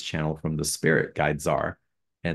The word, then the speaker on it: Dzar: they bring in through a spirit guy named Dzar. Am I pronouncing it correctly? It's been a while. Yeah, Dzar. Thank you. Y'all, it's spelled D-Z-A-R, and wait till Dzar comes in as well.